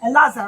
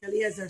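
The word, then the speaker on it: Eleazar: I'm calling him Elazar or Eliezer? Elazar. I'm pronouncing his name wrong. So yeah, at one point, Eliezer was the oldest son. Sorry, my mistake. Eliezer.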